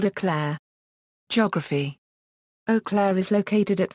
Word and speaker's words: Eau Claire: appears on the city seal the name is pronounced as if it was spell o Clair geography oakair is located at 44 a de